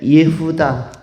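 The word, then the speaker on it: יהודה: 유다는 원래 예후다라는 그 히브리 발음으로 예후다라고 불려지는 용어인데, 이 유다는 바로 찬양받다, 찬송받다, 찬양, 찬송이라는 의미를 가진 그런 존재로 제시되고 있습니다.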